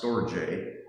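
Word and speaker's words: storge: There is sto, which I had never heard of, s t o r g e, pronounced stoj, which is love that is shared between family members, like that experience between a parent and a child.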